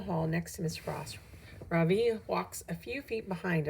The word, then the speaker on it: Ravi: "My name is not Ravi," he says. "It's pronounced Ravi.